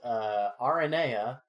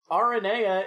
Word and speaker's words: Aranea: I say Arania. Yeah? I just haven't heard that pronunciation. Aranea is the proper mythological pronunciation for that name.